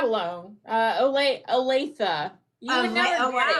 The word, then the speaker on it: Olathe: Because you're in Olaf, aren't you?